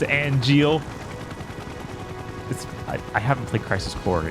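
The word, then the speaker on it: Angeal: Okay, it is pronounced Angel.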